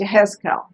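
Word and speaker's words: יחזקאל: I forgot how to say it in Hebrew, and it's Yehezkel.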